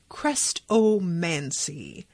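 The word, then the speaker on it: Chrestomanci: known as the crestovancy you pronounce it crest oh mancy he has to have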